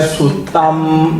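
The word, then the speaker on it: suttaṃ: 어마 씨 같으면 완매 수 땀 요렇게 돼 버다 요것도 땅이 아니고 땀 요렇게 돼 근데 또 이거는 또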